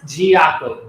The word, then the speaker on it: Djiaqo: Pronounce the name of the clothing line. It's Giaco.